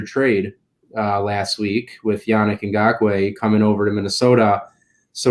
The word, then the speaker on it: Ngakoue: They can play Danielle Hunter and how do you pronounce that name? Ngakoue? Ngakoue.